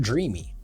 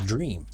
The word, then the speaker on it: Dreame: I think it's not Dreamy, I think it's Dreame.